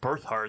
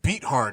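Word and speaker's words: Beathard: I like birth hard though. Beat hard is how you say it.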